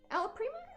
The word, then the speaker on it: alla prima: Alla prima? That's... Or did I say it wrong? You said it right. Alla prima, it's an Italian word.